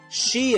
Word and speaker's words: shi: I don't know if they say it the same way, but it's said she and her, but it's spelled SHI and HIR.